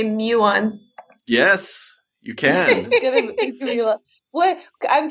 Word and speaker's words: muon: word it is a muon have you um the first part is Mew like the Greek letter Mew right right right so